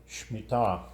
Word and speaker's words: Shemitah: Shemitah.